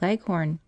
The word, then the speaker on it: Leghorn: Shanghais, and the White Leghorn. Phoebe, when she pronounces this word, leaves out the H and bears down heavily on the last syllable, so that it rhymes with begone.